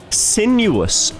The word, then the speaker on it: Sinuous: Virtual again with the wrong pronunciation. Sinuous is correct.